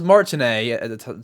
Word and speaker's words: Martinet: But Charles Martinet, that's how you say his name.